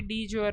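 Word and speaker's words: de jure: तो भाई देखिए हमारे प्रेसिडेंट ऑफ इंडिया को डी ज्योर की अथॉरिटी दी गई है। इसका इंग्लिश का हिंदी का प्रोनाउंसिएशन भी डी ज्योर होगा, इस वजह से ये ऐसा ही लिखा हुआ है यहाँ पे।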